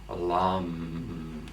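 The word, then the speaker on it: लं: And our tone here is the Ayurvedic seed syllable for balancing the earth chakra, the tone lam, emphasizing the la and feeling the resonate in our body.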